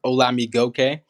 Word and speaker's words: Olamigokey: butchering my last name it's pronounced hola me gokey um and yeah it